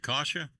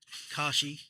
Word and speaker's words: Kashi: We've got You pronounce it Kasha. Kashi. Kashi. I didn't know how to pronounce it. Kashi cereal.